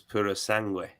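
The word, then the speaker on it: Purosangue: of his Italian lessons tells me that it's Puro sangui yeah you would know he would know I'm telling you've been uh talking uh pronunciations with him yo it's your wife must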